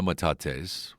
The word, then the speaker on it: metates: I first visited last December and recently returned to find out more about some ancient rocks on display called metates. Is that how you pronounce it?